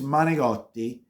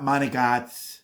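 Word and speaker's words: manicotti: gets to me is I'm gonna pronounce it the correct way it's monogati with an i at the end it's not monogats it's not money God it's not money Glory not money Gods it's that's the way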